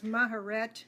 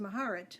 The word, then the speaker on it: Maharet: else I can pronounce maharet has always been pronounced that way by me um although I've heard it pronounced maharat which sounded very beautiful too mcare is the